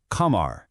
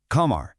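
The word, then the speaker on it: قمر: In Arabic, moon is qamar. Hear that sound at the beginning? Qaaf, qamar.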